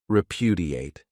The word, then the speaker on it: repudiate: Another great verb is repudiate. This verb has four syllables, and the stress is on that second syllable, repudiate.